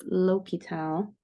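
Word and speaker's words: L'Hôpital: Plus 1 over 2x is indeterminate we use l'hopital and that is how you pronounce it folks l'hopital okay that just means that if we have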